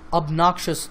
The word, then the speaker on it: obnoxious: talk of a person's obnoxious behavior now this word has three syllables of noxious and the stress is on the second syllable so obnoxious obnoxious